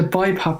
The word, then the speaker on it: BiPAP: I may be saying it wrong, but is it called Bipap? Yeah, I use a Bipap machine. Yeah, you're right. You got the pronunciation right.